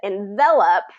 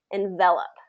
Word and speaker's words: envelop: so that would that that pronunciation changes and the stress especially changes envelop okay so say that one for me envelop yeah there you go so be aware of those two just that difference of that one e really changes the pronunciation of that and the